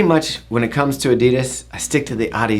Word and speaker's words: Adidas: are giving you our Adidas or Adidas how do you pronounce it just say Adidas sounds like you're saying croissant if we say it